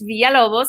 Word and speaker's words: Villalobos: i like to print my mother once caught me pronouncing it the gringo way and she got very angry at me she said that's not